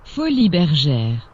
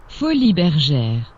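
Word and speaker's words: Folies Bergères: attempts I give myself, so let's let Google pronounce it for us, shall we? Folies Bergeres. Well, thanks, Google. This game's name, Folies Bergeres, comes from a famous cabaret in France.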